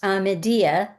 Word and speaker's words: Amedi: on the site of amedi it's pronounced amedia in the local dialect and aladia in Arabic we took up this